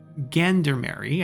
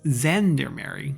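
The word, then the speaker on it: gendarmerie: arm and it's not gander mary i think is zendermary like a zh sound which is a very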